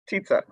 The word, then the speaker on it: Tietze: I'm going to look to Yes, correct on pronunciation. Was I close? Ms. Kenzie, exactly. Okay, Tietze.